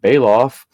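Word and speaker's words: Belaf: was in charge of ganja's medical needs bailoff pronounced bailoff is the blue eyed man with a birthmark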